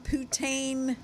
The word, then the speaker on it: poutine: I call it poutine fries, and I know that's not Poutine. right. So it's Poutine.